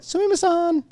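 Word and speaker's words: すみません: But the one, like the big one, sumimasen. That was, and you gotta say it like a little like sumimasen. You almost have to have like a little like a feminine tone to the whole thing, just because it's just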